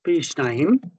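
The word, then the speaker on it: פי שניים: So pei yot, it pronounces the word pi, and then the shin, the nun, the yot, and the mem, shnaim, shnaim. So pi shnaim.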